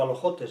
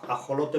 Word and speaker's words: ajolote: He oído a algunas personas pronunciarlo con metábasis, alojote por ajolote o alojote por alojote o ajolote por alojote. Eso ya depende de... En algunas zonas de Asturias se pronuncia con esta metábasis. Pero vamos, lo correcto sería ajolote, lo convencional y lo estandarizado.